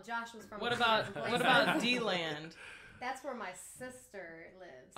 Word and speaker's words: DeLand: Come to find out, the natives of D-Land actually pronounce it D-Land, and everyone else pronounces it DeLand. I didn't know that. Because it used to be spelled D-E-land.